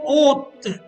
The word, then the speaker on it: haute: Fourth one, les filles sont hautes. H-A-U-T-E and H-A-U-T-E-S. Same pronunciation, haute.